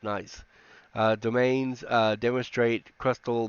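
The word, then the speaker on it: gneiss: terrains and uh uh night nice I guess that's pronounced nice uh domains uh demonstrate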